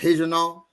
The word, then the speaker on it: Regional: janal which is looks like regional but it's pronounced heejano um which so angola that was from the